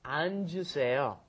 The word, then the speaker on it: 앉으세요: Because it's got the double 받침 there. So you've got to go 안, and then the J sound comes up, 앉으세요.